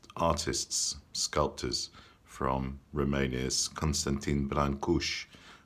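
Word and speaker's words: Brâncuși: the most famous artists sculptors from Romania's Constantin Brancusi francuzzi but Berlin Koosh is how we pronounce his name he was born in a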